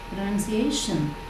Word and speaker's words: pronunciation: correct pronunciation okay so you know how a t o n ending word has to be pronounced pronunciation right the penultimate syllable has to be stressed so speak with correct